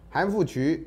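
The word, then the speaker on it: 韩复榘: 韩复渠啊，这个渠呢啊，有人念成举啊，那有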